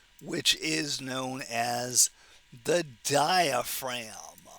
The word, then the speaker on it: diaphragm: And that right there is again that major muscle of respiration which is known as the diaphragm. Don't forget the silent G in diaphragm.